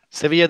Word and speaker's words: Sevilla: Sevilla doesn't have enough syllables. You have to say Sevilla. I mean, like you're missing one.